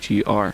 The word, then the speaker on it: Witcher: By the way, my last name is spelled Witcher. For some reason, it's like Witch with the broomstick and the poison apples and stuff.